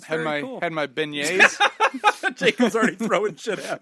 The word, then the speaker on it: beignet: Say that word again. But is it beignet? There you go. Did I get it? Beignet? Beignet. Yeah, look at me. Not a beignet. Yeah, no, I said I had beignet. A Bennett. Okay, Bennett's? yeah. Really hit that last T.